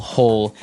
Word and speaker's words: hoe: if you want to make maybe a small hole and the ground you would use a spade